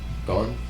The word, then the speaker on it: Gon: How you spell it? G-O-N. Gone.